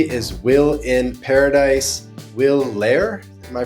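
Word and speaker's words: Lehr: German, but yeah, pronouncing it in English is tricky. Yeah, Lair. You You hit the nail on the head. Lair.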